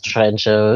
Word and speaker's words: Trijntje: I was like is your name your name's Tren show St or whatever and then she's like she pronounces in the door train I'm like okay okay and then anyway was